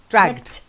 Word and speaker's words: dragged: Dragged. No, it's not t, it's the d. It's got the duller sound.